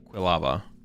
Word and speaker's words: Quilava: How do I pronounce it? Oh, it is quava, right? Yeah, it is quava. Not quava. Quilava.